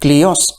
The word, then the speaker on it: κλοιός: On the other, in modern Greek, the word kloios, pronounced klios, is applied to an encircling object in general.